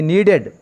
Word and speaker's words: knead: He needed. K is silent.